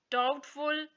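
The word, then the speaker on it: doubt: है वो हम नहीं पढ़ेंगे उसको वहां पर साइलेंट कर देंगे before D letter T डाउटफुल डेट यहां पर देखिए दो यू बी टी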